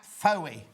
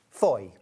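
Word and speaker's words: Fowey: Foe. Foy. How do you say that? Foy. Foe. Foy. It's foy in Cornwall.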